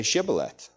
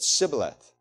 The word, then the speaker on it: Shibboleth: When he said no, they said to him, "Then say Shibboleth." And he said, "Sibboleth." For he could not pronounce it right.